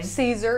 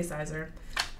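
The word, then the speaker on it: Siser: And Caesar, Sizer, what do you say? Caesar, it's Caesar Easy Weed. Why did they name it that and spell it that way? I don't know. Who knows? I always say it wrong. I say Sizer.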